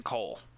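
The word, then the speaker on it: Koll: i just i always i had trouble pronouncing coal because k-o-l-l to me does not necessarily spell coal but then it was pointed out c-o-a-l and he's a forge master yeah it's like my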